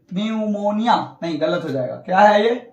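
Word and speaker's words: pneumonia: अगला है piece silent P कब साइलेंट होगा तो एन तथा एस के पहले आया हुआ पीस साइलेंट होता है एन और एस के पहले आया हुआ पी क्या होता है साइलेंट जैसे एग्जांपल देख लीजिए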